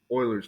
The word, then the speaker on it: Euler: What is the natural base, aka Euler's number, right? And I hate that it's pronounced Euler, but apparently that's the right pronunciation. For years, I was calling it Euler.